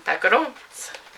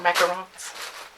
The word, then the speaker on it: macarons: To make them macarons. Or macarons. I believe is the correct pronunciation.